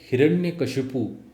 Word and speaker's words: हिरण्यकशिपु: तो ये एक भ्रांति फैलाती है कि हिरण्यकश्यप नाम है जो कि गलत है। हिरण्यकश्यप नाम बिल्कुल नहीं है। उसका नाम है हिरण्यकश्यपु। ओके?